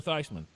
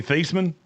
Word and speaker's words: Theismann: It's like Joe Theismann. Old Joey Theismann? Yeah, that's not how you say his name. No, he changed it because he was a candidate for the Heisman.